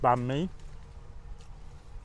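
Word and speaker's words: bánh mì: or sometimes it is m i but it's pronounced B me again really really tasty I think the word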